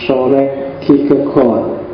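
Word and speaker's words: Søren Kierkegaard: Namanya adalah soreg. Kalau pakai lidahnya orang sana biasanya membacanya agak bulat di belakang jadi sore gigegot. Jadi rodo masuk ke kerongkongan suaranya. Jadi, jadi O bukan A.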